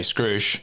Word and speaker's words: skruish.: I mean I guess it's easier to say Scrooge than screw-ish because you know okay I guess so yeah